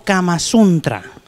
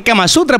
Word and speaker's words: Kama Sutra: ¿Kama Sutra o Kama Suntra? Yo que Kama Sutra, porque Kama Suntra es una oficina, ¿no? El Kama Suntra es de gobierno, ¿no? Es una oficina de gobierno.